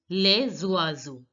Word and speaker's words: les oiseaux: with a vowel O, we are going to link the words. S will become Z. So it becomes les oiseaux.